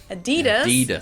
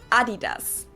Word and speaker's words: Adidas: were referring to because they usually pronounce it Adidas. And in Germany we say Adidas. Adidas. Super different.